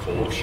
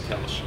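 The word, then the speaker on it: Kölsch: So when we opened up, we were just calling it Kolsch. And we had some old German dudes come in, and they scolded us. So the correct pronunciation is Kelch.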